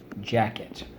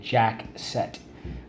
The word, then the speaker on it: jacket: let's go jack cat jacket why do you use the k because of the e otherwise you would say jack set with the soft c okay the next word